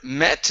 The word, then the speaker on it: met: Next is the word met instead of meat. Okay, this is a short E sound. Met. Met.